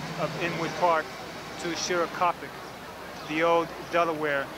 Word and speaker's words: Shorakapok: Shorakapok Natural Area.